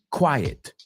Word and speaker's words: quiet: He's quite quiet. So, quite is quite, and quiet, quiet. See, it's the difference of where that T goes. Quiet, it goes at the end.